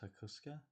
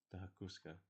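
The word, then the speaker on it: Hakosuka: I'm 100% pronouncing that wrong, but I think it's pronounced Hakuska.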